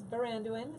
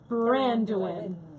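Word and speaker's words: Baranduin: My name is Barandoan. It's from the Lord of the Rings. It's the river that borders the Shire. Um it is my original name. And spell it for everyone. And it is spelled B A R A N D U I N.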